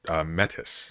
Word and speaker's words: metis: died recently called met metis metis mate it's spelt M but it's medic it's named after a character from Greek mythology but we don't need